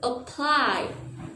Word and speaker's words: apply: the first syllable Apple now let's look at the word apply for this word your stress is on the second syllable so the vowel sound